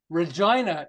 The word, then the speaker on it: Regina: Regina, it rhymes with fun.